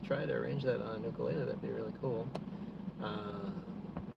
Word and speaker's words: ukulele: So, from my understanding, it's it's uh pronounced ukulele. You know, I grew up hearing ukulele, but and that's how most people around here say it.